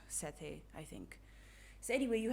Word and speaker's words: Sethe: i think it's pronounced sethe but can i just call her set it's just so much easier to roll off the tongue but i think it's pronounced sete i think so anyway